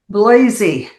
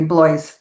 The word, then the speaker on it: Blaze: Blazy. The E is not pronounced. Okay, excuse me, Blaze.